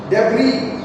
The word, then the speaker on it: debris: Debris. S is silent.